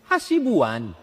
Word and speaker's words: Hasibuan: Hasibuan. Gedung paling tua, Kaharudin NST. Cara membacanya Nasution.